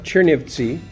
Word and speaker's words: Chernivtsi: she ate so Frances familiar you went to Chernivtsi last summer at that pronunciation right right it's a place that has